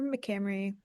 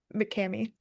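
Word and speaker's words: McCamey: Tyler McCamry. No, I added an extra R. Tyler Mccame. How do you spell that? MC C A M E Y.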